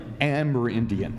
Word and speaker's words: Amerindian: headed up the air i always say amerindian but you pronounce it differently amber indian the amer indian mission